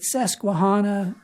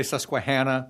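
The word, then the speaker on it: Susquehanna: in the middle of is it sesana river is that did I pronounce that correctly uh pretty pretty close you don't quite have the Pennsylvania accent but we say sasquan but s enough and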